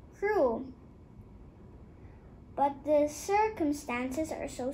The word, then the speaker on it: Crewe: They pronounced it Carew instead of Crew.